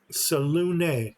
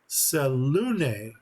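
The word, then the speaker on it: Selûne: Salune. I've always wondered how to pronounce that. So I guess that is an accento over the U, which makes the second syllable stronger than the first. Salune.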